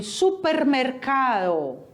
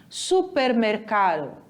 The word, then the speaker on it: supermercado: vocês podem observar que a pronúncia é totalmente diferente o a quase não sai olha como é que fica Supermercado viu ao ar ele vai juntar aliciado e vai quase suprimir o finalzinho supermercado e o próximo